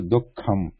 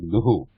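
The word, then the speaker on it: दुःखम्: So we are not pronouncing this Visarga completely here, like Duhu.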